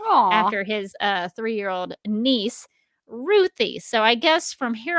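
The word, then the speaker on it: Ruthye: and tom king said she's named after my three-year-old niece ruthie so that's how i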